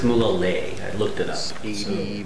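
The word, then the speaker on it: Mulegé: This is Mulege. It's actually pronounced Mulege.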